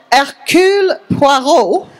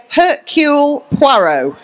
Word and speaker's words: Hercule Poirot: You pronounce it Hercule Poirot if you want to say it in a proper French accent, but I don't actually say that all the time. So I say Hercule Poirot.